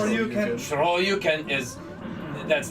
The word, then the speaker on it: Shoryuken: Just like the Shiro-yuken, or however it's pronounced. Shoryuken.